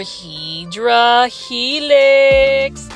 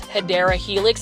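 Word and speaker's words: Hedera helix: know long story short I mispronounce hadera Helix as hedra Helix it is a plant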